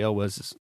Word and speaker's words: Elwes: And so she decides to go with Arthur, which is Cary Elwes.